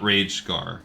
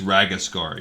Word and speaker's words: Ragascar: The Lost Pages by Gerda ragascar not rage scar it's ragascar you heard it first from voiceover it is my I've been saying it wrong I just picked up